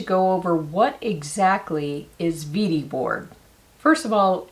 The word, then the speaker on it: Wedi: over what exactly is vd board first of all it's manufactured in germany so it's actually pronounced vidi the official description of